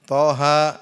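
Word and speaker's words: طه: Yas dibaca apa Yasin thha jangan dibaca thh tapi dibaca th ha jadi bacanya per per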